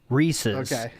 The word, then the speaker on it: Reese's: stuff is pronounced correctly let me tell you Reese's anything else is banned go ahead snoo thank